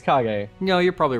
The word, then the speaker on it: Kage: that's how it's pronounced it's spelled cage but i think it's kage no you're probably right